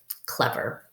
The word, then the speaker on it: clever: This one is This is an R controlled vowel. Whenever you have R after a vowel, the vowel doesn't make the sound you would expect. So when you have E and R together, it says kind of like in her. So clev, Good.